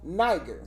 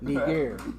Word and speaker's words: Niger: Niger. It's called pronounced Niger, not Niger.